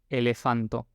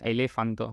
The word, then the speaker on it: elefanto: Elefanto. Hasta ahora, digamos, todas las pronunciaciones creo que son bastante intuitivas. O sea, nadie diría elefanto, sino que es elefant. Siempre va en la anteúltima vocal.